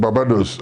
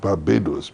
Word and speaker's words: Barbados: names etc somebody said I come from Babados And the English man said, "Why don't you try calling it Barbados?"